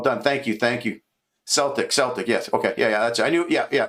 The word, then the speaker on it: Celtic: Is that Celtic or Celtic? I'm going to say it wrong but I I we say Celtic here but I'm sure it's Celtic.